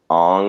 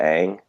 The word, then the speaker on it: Aang: Like, you know, in the Avatar movie when they're calling him Ong instead of Aang.